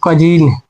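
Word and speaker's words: cousin: यानी कि इसको है ओ के बाद यू आ गया तो वो साइलेंट कर देंगे, तो इसका हो जाएगा कजीन।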